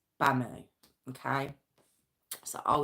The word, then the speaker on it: Bamu: a m u now I hope I'm pronouncing it right I don't think it's Buu so I think it's bamoo okay so oh it's